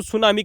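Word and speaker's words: tsunami: क्या नाम है दोस्तों क्योंकि दोस्तों जब भी इससे पहले अगर टी आता है तो दोस्तों हमेशा साइलेंट हो जाता है ये आप दोस्तो इंग्लिश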